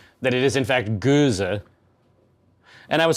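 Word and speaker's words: Gose: that it is in fact Goza.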